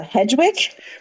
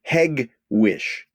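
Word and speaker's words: Hegewisch: w i c uh hedgewick very close very close it's a hard G heg Wick wish you're still doing outstandingly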